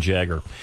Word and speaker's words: Jagger: Mick Jagger. Mick Jagger. Alan's name, and of course you've lived with this your entire life, but has been mispronounced by so many people. Jaeger and Jaeger. Everybody's a Jaeger.